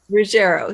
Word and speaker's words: Ruggiero: is like oh shoot is that how it's pronounced i just call her tammy so rogero ruggiero thank you yes it gets mixed up all